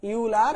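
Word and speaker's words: Euler: হলো অয়েলার formula বা ইউলার formula যে যেটা উচ্চারণ করো ইউলার বা অয়েলার অয়েলার এর সূত্র তো অয়েলারের সূত্র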